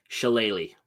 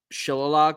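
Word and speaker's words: shillelagh: help me pronounce this the jeweled what shalele shalele all right I was gonna pronounce that very wrong uh what were you gonna say I'm interested shill loog all right that's actually looking at it yeah 100% that's how you it but it's chele okay thank you all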